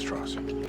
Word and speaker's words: Strauss: It's pronounced Strauss.